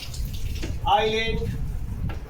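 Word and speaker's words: islet: यदि किसी स्पेलिंग में एस दो लेटर आई और एल के बीच आए तो प्रायः एस साइलेंट हो जाता है, एस का उच्चारण नहीं होता है। For example आईलेट, आईलेट, आइल।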